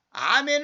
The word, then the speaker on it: 아멘: 말이거든요 으 예 안에 아멘 은 원래 이 히브리어로 아멘을 영역이 헬라 울어도 아멘으로 그렇게 냐 바라 그저 발음 그대로 옮겼어요 그럼 6 사람들로 영업권에 에이멘 그랬잖아 근거 틀린 말해요 그 그 자기들 입맛대로 언약의 애니 맨 그런 된 사실 아멘 예 맞습니다 그 그게 우리말의